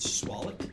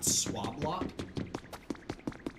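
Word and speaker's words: Swablu: Uh, it's pronounced swall, not swablot.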